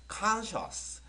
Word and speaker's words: conscious: 첫 번째 단어야 한번 읽어 보실래요 우리 친구들 conscious 어떤 경상도 친구가이 친구를 이거 일단 빼고 나서